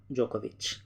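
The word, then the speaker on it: Djokovic: इसका जो सही उत्तर है वो है नोवाक जोकोविच, डी साइलेंट है, ठीक है।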